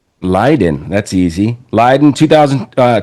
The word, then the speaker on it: Leiden: Leiden. Leiden that's easy. Leiden 2000 uh 2000 to 2004. So that's interesting. You were getting a PhD. You were at Leiden University when the millennium happened, when the internet